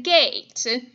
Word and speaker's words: gate: We pronounce the word like g-a-t-e. We don't pronounce that E. That E is silent.